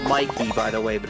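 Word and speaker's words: Mikie: The game was called Mikey, by the way, but it's spelled weird.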